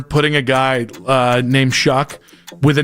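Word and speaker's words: Shough: You shouldn't spell it that way and then pronounce it the way that he does.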